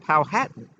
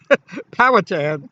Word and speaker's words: Powhatan: i met chief powhatan and he said it's pronounced powhatan but everyone else like you said with how i everyone else pronounce it powertan which is wrong and i said pow hat